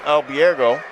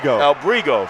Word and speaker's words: Albrigo: The bid was by Calden Albergo. I'm pronouncing that wrong, aren't I? Albrigo, thank you.